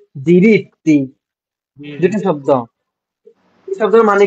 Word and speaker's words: diritti: diritti, non si dice dritti। Ok, মানে এটা কি বলে? non si dice কি? diritti, কি বলে? si dice, non si dice dritti, si dice diritti।